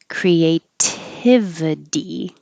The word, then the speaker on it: creativity: d correlated this t changes to a d creativity the first t stays a t because even